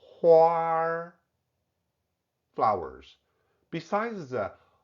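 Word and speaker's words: 花儿: Hua, huar, flowers. Besides the huar given to girlfriends, the beautiful patterns on latte coffee are also huar, hua, huar, painting.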